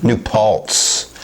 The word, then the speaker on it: New Paltz: They're in New Platz. How do you pronounce it? New something. Paltz. Paltz. P-A-L-T-Z. New Paltz.